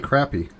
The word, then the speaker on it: crappie: Crappie, yeah, it's pronounced crappie.